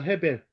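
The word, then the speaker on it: הבל: 아벨의 원래 히브리식 발음은 헤벨입니다. 헤벨.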